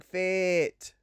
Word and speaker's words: FIIT: So, introducing FIT. Double I. I feel like I have to pronounce that.